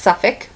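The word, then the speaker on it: Suffolk: looking at it you would probably pronounce it pronounce it Leo Minster that's lemonster and two more this one that's suffk and this one that's Barnstable okay so I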